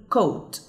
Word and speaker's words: caught: طيب كلمة caught نخلي بالنا إن ال gh هنا has no sound، ما عندهاش صوت أو بنسميها silent، تمام، يعني ما بننطقهاش فبنقول caught.